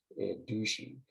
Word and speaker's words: dushi: And in fact, it is pronounced, according to this one website, douchey.